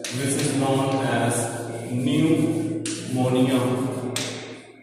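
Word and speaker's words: pneumonia: दूसरी डिजीज है which is known as न्यूमोनिया। P silent होता है, ठीक है।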